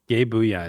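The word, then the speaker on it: Gae Buide: Gabooya is the way You you are pronounce it. gay. I did a lot of research on this. You pronounce it Gabooya.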